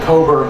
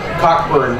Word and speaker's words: Cockburn: pronounce his name um uh Admiral Coburn always pronounced it cober but the Americans uh pronounced it cockburn much to his irritation um but I'm going